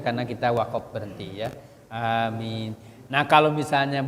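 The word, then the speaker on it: آمين: baca itu jadi apa Huruf a-nya itu hamzahnya dibaca dua ketukan atau dua harakat kemudian minnya itu lebih panjang Bisa dua bisa empat bisa enam karena itu Mad di sukun Mad panjang yaam mati di ujung hurufnya karena kita wakaf berhenti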